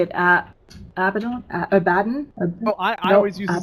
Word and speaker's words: Abaddon: If it were an English word, you would be saying it correctly, because the emphasis would be on the penultimate syllable. But everybody says it's Abaddon, so that's the way you gotta say it, apparently.